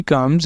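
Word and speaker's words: comb: बी कम्स after M जब एम के बाद बी आया करेगा ना उस वक्त इसने साइलेंट होना करना है जैसे पहला है हमारे पास लैम कॉम थम लिम क्लाइम यहां पर यह क्या है कि सबके अंदर क्या है लेटर बी साइलेंट क्योंकि वह आ रहा है एम के बाद एम के बाद आ रहा है तो लेटर बी होगा साइलेंट दूसरा है रूल हमारे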